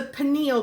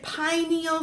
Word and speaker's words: pineal: go on to the pineal gland some people say pineal some people say pineal doesn't really matter just spell it correctly